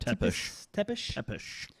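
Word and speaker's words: Țepeș: Vlad Tepes. How do you say that? Tepish.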